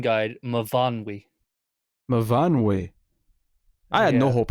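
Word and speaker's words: Myfanwy: That mean that pronunciation guide Mavanwi.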